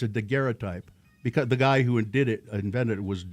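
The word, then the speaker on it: daguerreotype: say that and I look at it, dgeray type. It's dgeray type.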